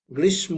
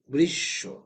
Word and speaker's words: গ্রীষ্ম: আসে তাহলে কি হবে যে অক্ষরের সাথে থাকবে সেই অক্ষরটা দুইবার উচ্চারণ করতে হবে সেই অক্ষরটা কি করতে